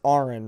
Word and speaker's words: AronRa: don't want to get it may look like aaron to some people but it's pronounced like registered nurse uh how to register